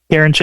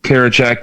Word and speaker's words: Karinchak: Karinchak. How do you say it? Karinchak, thank you.